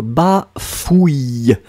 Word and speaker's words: bafouille: joseph qui se demandent comment on prononce bafouille c ur ou et après c'est donc bah fouilles victoria qui nous écrit